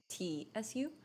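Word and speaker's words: つ: So there's su that is pronounced like su, but then there's a su that is tsu.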